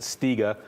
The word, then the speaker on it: Stiga: This is kind of a break area where we have it, and I hope I don't butcher, but I think you pronounce it Stiga.